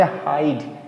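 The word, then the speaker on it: hide: इसको बहुत सारे बच्चे पढ़ेंगे। हीड़े लेकिन ही नहीं है। इसको बोलेंगे हाइड।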